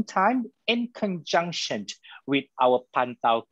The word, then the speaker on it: Pantau: I'll spell it again for all of us here today. It's Pantau, P-A-N-T-A-U, Kuasa, K-U-A-S-A, those are in one word, .org.